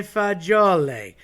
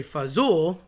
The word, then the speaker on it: fagioli: I've heard people say fazool. That's probably the most common. I've heard people morph it every which way.